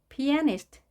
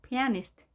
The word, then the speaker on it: pianist: editor, editor 이렇게도 발음합니다. pianist, pianist 강세에 유의하시고요. pianist.